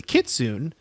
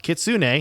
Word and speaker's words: kitsune: japanese myth of the kitsune oh wait nope kitsune he put he put the speech pronunciation in there because he knows i